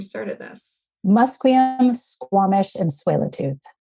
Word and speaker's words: Tsleil-Waututh: Musqueam, Squamish, and Tsleil-Waututh. Tsleil-Waututh.